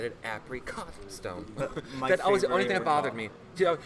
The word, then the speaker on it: Apricot: cuz you know the the emphasis would be on the first syllable apricot right but using apricot stone because it always bothered me yeah she was always saying apricot Joe those things like